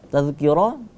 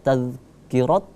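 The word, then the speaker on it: تذكرة: Tazkirah itu sudah betul kita membacanya tidak tazkirat ya, tapi tazkirah seperti itu ya.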